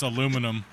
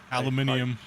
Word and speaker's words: aluminium: My favorite is aluminum. Aluminium. Technically, it is aluminium.